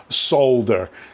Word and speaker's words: solder: you how to pronounce solder. Okay, it's spelled S-O-L-D-E-R. So it's pronounced solder. It's not solder, okay?